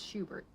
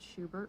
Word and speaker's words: Schubert: I guess it's pronounced Schubert, right? He was German and not Schubert.